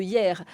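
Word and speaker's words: Yerres: nombre ux touristes c'est la ville de Hyères alors ça s'écrit pas du tout comme la ville qui est proche de Toulon pourquoi pourquoi les touristes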